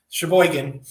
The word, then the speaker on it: Sheboygan: Yeah, that's how that's pronounced, Sheboygan.